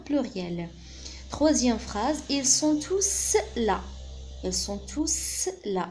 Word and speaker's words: tous: Donc, on prononce S à la fin dans tous, parce que ce n'est pas un adjectif indéfini. Lorsqu'il est adjectif, lorsqu'il précède un nom, on dit tout.